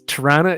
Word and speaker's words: Toronto: Comic-Con March 17th through for the non-canadians Tarana is Toronto Comic-Con you said that